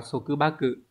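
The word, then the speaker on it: 束縛: Từ này đọc là số cứ ba cự.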